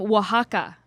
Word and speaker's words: Oaxaca: From Oaxaca. Are you impressed that I knew Is how that to how you pronounce that?